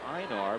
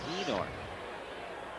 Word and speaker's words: Einar: he was with Cleveland, it was Einar, but he said, no, my name is pronounced Enar.